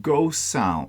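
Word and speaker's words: Gosund: look like okay so they are called ghost sound sound but it's spelled g-o-s-u-n-d smart plug you get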